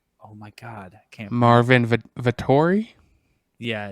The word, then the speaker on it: Vettori: Marvin Vettori? Yeah, it's Vitor. Like they pronounce it as Vitor or something like that.